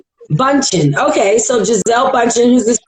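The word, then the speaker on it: Bündchen: I'm not sure how to pronounce her last name, but I'm just gonna say Giselle. How you say it? Bunchen. Bunchen.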